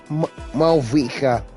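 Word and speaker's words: Mavuika: Seriously, I had a hard time trying to pronounce it until I've actually heard it from the trailer video. Malvika.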